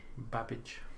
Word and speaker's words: Babbage: How do you pronounce his name, Alex? Charles Babbage? Babbage.